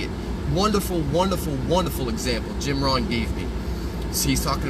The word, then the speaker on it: Jim Rohn: Wonderful, wonderful, wonderful example Jim Rohn gave me.